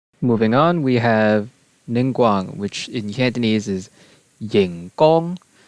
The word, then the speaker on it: Ningguang: Moving on, we have Ningguang, which in Cantonese is Yinggong, or technically it's properly pronounced Yingguang.